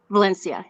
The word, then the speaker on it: Valencia: Valencia? Am I saying it right? Is it Valencia? Valencia. Yeah. Yeah.